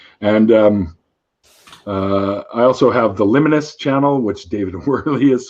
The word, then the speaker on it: Liminis: You can find Liminus on SoundCloud. By the way, Liminus is spelled Liminis. It's Latin for on the threshold.